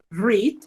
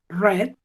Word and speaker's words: read: El verbo read se escribe igual en presente, en pasado y en participio. Lo único que cambia es su pronunciación. Yo diría read en presente, read en pasado y read en participio.